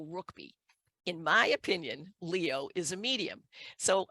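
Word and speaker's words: Ruickbie: the name of Leo I don't know how you say his name but it's Rook B r-u-i-c-k-b-i-e so I think it's Leo rookby in my opinion Leo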